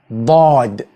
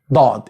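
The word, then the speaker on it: ضاد: the letter dad dad And this needs a stop. Although I colored this letter in brown because you can derive this letter from the letter dal. I don't like you to confuse or to mix or mistake between dal and dad.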